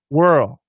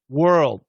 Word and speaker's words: world: But when we do a stop D, you can hear it. And if I go slow, you can hear it. World, world, world, whirl. I know it's really, really difficult. It's possible to cancel the D.